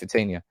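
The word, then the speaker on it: Vitinha: think it's vtin let me see if I pronounce his name right yes vtina I might do a video on him later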